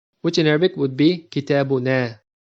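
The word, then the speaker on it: كتابنا: And the last form of the dhamir muttasil is our book, which in Arabic would be kitabuna. So the dhamir is na with elongated a sound.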